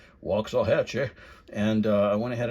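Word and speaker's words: Waxahachie: I got this one at the Red Barn antique store in Waxahhatche or I think how the locals say it. Wah Hatche Waxah Hatchee.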